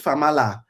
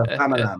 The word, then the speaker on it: Famalam: My mum's like, oh, I watch Famala. Famala. No, it's a Famalam.